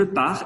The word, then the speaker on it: pars: On ne prononce pas le S et le T final.